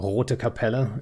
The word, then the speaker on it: Rote Kapelle: Road Capel, or Rote Kapelle, if you're German, you would say it like that.